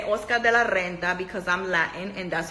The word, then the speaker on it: Oscar de la Renta: And yes, I'm going to say Oscar de la Renta because I'm Latin and that's his motherfucker name.